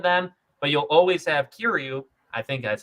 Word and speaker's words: Kiryu: But you'll always have Kiryu.